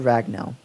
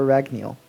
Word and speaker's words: Ragnell: It is the Holy Sword Ragnell, or Ragneel, however you want to pronounce it.